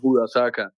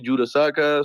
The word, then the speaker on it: Hudasaka: But then I've learned that people will pronounce it however they want it. Some people call me Judasaka, some people call me Judaseka, Hudakasa, Kasahuka. I mean, it goes all over the place.